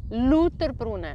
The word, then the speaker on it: Lauterbrunnen: So, and this one, the next one, this one, how would you pronounce that one? Yeah, it's tricky, isn't it? Because I would say Lauterbrunnen, not Lauterbrunnen, Lauterbrunnen.